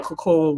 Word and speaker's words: Kaqun: And she was bathing in the Cacoon water. They spell it Kaqun. And it's the reason why they call it Cacoon is because of the process, like, of a cocoon, and how it helps heal.